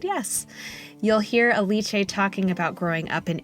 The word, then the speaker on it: Alice: chat with recreational Runner aliche Roso aliche welcome to the E for endurance podcast and I'm very glad I just checked how to pronounced your name I almost called you Alice but we we uh